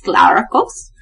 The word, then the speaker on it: Glaros: about lla and Glaros if you're confused on how to pronounce Glaros it's Glaros Glaros Glaros glos glow Co yeah um kind of like glow Co glow for sure glower